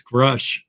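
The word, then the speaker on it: Grusch: pronounce his last name because it's gers not grush it's grush grush like Rush grush sorry I always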